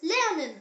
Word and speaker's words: lernen: The example word is lernen. Say it. Ler-nen. Lernen means to learn.